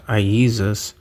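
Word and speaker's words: Ἰησοῦς: And of course, the most important one, Jesus in Greek, which is pronounced Iesus, equals 888.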